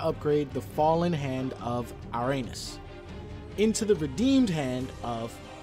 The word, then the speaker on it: Ouranos: to upgrade Irenaeus yep I said it right Uranus oh you are a n OS I bet